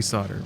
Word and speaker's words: solder: Talking to me about fixing old Japanese speakers and trying to solder them. No clue what he's talking about. So here's an annoying thing about electronics. Solder, it's pronounced that way. It's spelled solder. I don't know why.